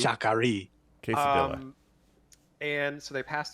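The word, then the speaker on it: Sha Ka Ree: Well, that's, so they're traveling to Shakari, which, Colin, I just realized that's what you were trying to pronounce earlier. Right, that's Shakari. Shakari.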